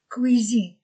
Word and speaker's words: cuisine: La salle à manger et la cuisine, que, UI, oui, cuisine, S entre deux voyelles, Z.